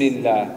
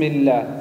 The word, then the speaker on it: الله: بسم الله بسم الله الهاء في الله يجب أن تكون واضحة بسم الله بسم الله